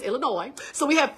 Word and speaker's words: Illinois: Y'all, it's Illinois, not Illinois. I had to practice that. I'm like, the S is silent.